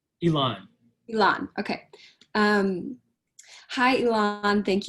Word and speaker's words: Elan: you how do you say your name elon elon okay um hi elon thank you so much